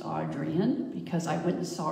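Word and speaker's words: Adrienne: me is Audrey and Rich whose name is pronounced audrian because I went and saw her in Portland and so I'm lucky enough to know that yes it is Adrian when I'm corrected and anyway she does a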